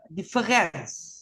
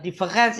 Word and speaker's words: différance: Eh, difference ini ya eh A-nya kan baca seperti e difference ya sehingga menjadi monumen bungkam ya.